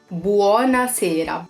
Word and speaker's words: buona sera: have buona sera same he pronounces the power so it's buona sera buona sera buona sera and we use these from 1 p.m.